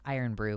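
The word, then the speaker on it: Irn-Bru: But Inabox just said that it's, it's spelled IRNBRU, but it's pronounced iron brew, which means that y'all are inventing vowels where there weren't any.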